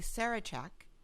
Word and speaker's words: Sarachek: we are here with Abbe Greenberg and Maggie Sarachek. That's how you pronounce it?